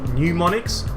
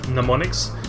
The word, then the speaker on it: mnemonics: is obviously mnemonics so mnemonics by the way mnemonics not new monix its mnemonics here's the history teacher